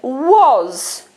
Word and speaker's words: was: of the O in the word was or let's take a picture of the Z in was W or Z was there it is w o was we can't change this this is how it's spelled so we have to think about what we say and the speech sounds in the way that we say it w or Z was